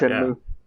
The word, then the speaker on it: Shenmue: Is that how it's properly pronounced? Shenmue, yeah. I never heard it like that. Shenmue.